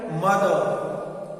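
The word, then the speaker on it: mother: ऐसे सी ए आर का, एफ ए टी एच आर फादर, एम ओ टी एच आर मदर, SIS किया sister, are हम pronounce नहीं करते हैं।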